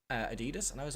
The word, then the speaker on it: Adidas: with in some capacity with a company called Adidas, but a lot of Americans say Adidas. And I was talking Yeah. to an American the other day, and they were like, "Is it not Adidas?"